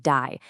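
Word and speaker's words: די: According to this really ancient teaching, as the universe was just expanding and expanding, a voice declared die, which is pronounced die, and it literally means enough.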